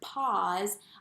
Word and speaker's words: pause: word in books before i know that there's a silent e at the end so if i'm writing the word pause i see so we